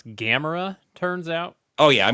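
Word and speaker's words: Gamera: doing that I did uh uh it's actually pronounce gamra turns out oh yeah I'm gonna pronounce everything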